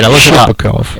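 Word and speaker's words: Shipachyov: Shipakov.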